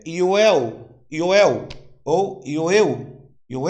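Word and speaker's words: יואל: Joel no hebraico é Yoel.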